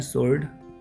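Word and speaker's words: sword: Next we have pen is mightier then the सोर्ड, इसको हम पढ़ते हैं सोर्ड, W यहाँ पे साइलेंट लेटर है।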